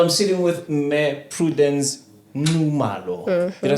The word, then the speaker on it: Nxumalo: She said to me, to say it right, if you ever said Nxa, just say Nxu. Correct. Right. Yeah, I'm sitting with me, Prudence Nxumalo.